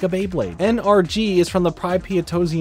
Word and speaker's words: NRG: of those fun names no I did not say his name is energy I said his name is NRG get it just like XLR8 anyway he's basically a